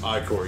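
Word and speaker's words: Ichor: it with magic like or that's pronounced iCore yes I know choose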